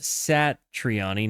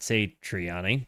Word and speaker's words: Satriani: Joseph Satriani, pronounced Satriani, not Satriani.